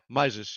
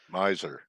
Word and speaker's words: Mises: Yeah, Mises, yes. Right? Yes. Miser. No, Mises, you said it right.